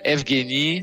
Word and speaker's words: Evgeny: Oui, on prononce Evgeny, tout à fait, ouais.